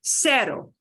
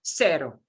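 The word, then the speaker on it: cero: the letter c okay the word for zero and notice it it's spelled almost like zero but you cannot have the combination z e in spanish you just can't so the way they express that is instead of z e for zero it's c e sero it's that easy in all of latin america in all mexico central america mexico latino america south america everybody pronounces it that way sero okay next we've got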